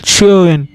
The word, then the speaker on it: schön: If we found 2 dots on the O, we should pronounce it as Oi. Example, schön, which means beautiful.